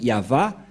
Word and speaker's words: Yahvah: dire non c'est pourquoi il est écrit ici yava et son nom c'est yava son nom et vous voyez que même les